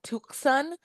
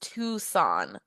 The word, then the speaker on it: Tucson: So, a lot of people, a lot of our international students initially when they come in, they believe it's called Tukan, but it's actually pronounced Tucson.